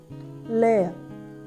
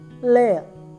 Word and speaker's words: lærer: So it sounds like layer, layer with very soft and trailing echo. So here teacher is layer, layer.